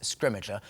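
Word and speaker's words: Scrimgeour: to say his name and we're going with scrimmager I think that's how we've ended up saying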